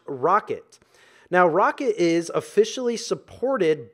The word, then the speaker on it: rkt: we have our KT which is pronounced rocket now Rocket is officially